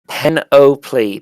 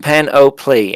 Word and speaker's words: panoply: always be left over Peno plea penalty panoply okay cool cool thank you Skittles appreciate it mate it's pronounced pan o plea and I'm going to